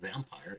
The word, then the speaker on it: vampir: V is pronounced as F. So for example, vampire is vampir.